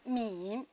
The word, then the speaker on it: 敏: 这个字念敏，它的韵母是前鼻韵母隐，不要读成了后鼻音。